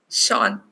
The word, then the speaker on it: Sean: Shean. Shean. Okay, it's kind of difficult because E and A comes together. So Sheen, it's actually Sean. Sean.